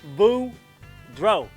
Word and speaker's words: Boudreaux: what's up kids is Boudreaux here that's pronounced boo bro and I'm here to